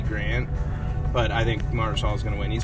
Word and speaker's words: Mahershala: How do you pronounce it? Mahershala, I believe. Yeah, Mahershala Ali.